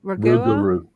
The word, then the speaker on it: Rougarou: How do you pronounce that? Ragua? Rougarou.